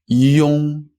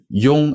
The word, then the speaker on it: 用: 用. So that's a e and a ong. 一用. 用. Again, that's spelled Y-O-N-G when it's on its own, such as in 用, to use. 用.